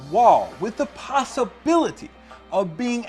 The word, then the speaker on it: waw: his Hebrew grammar that the sixth letter of the Aleph Beit is indeed pronounced WaW.